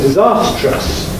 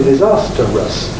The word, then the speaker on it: disastrous: uncertain about the spelling standard spelling is disastrous from disaster but every now and again you see people misspelling it presumably because they say or can say disasterous even though that's not a standard pronunciation so perhaps not everybody